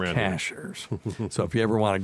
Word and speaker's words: Cashiers: up in Cashers North Carolina mhm it's not cashiers if you say cashiers we know you're a from around here you're a a tourist right it's Cashers so if you ever want to go there